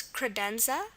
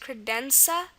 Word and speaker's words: credenza: Another example is credenza. Credenza. Okay, and here it's a Z.